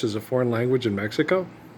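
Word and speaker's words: México: In Mexico, you don't say Mexico. That's foreign. It's Mexico. Okay.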